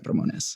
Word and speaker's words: Ramones: and understand my name I will say Ramones whenever I'm saying it for myself it is ronz because that is how it's pronounced but I'm not I'm